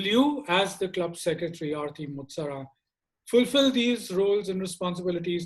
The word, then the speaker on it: Arti Motsara: For the position of secretary, we have Arti Motsara. Arti, I hope I'm pronouncing your name correctly. Yes, that's the correct pronunciation.